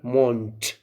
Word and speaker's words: Mond: Of course, they say you have to pronounce it der Mond. We write the and at the end we say t.